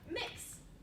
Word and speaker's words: Mx: Mix, MX, pronounced MIX.